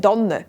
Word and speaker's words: Tanne: In der Region rund um Basel sagt man nämlich eine Danne mit einem weichen D. Überall sonst sagt man es mit T.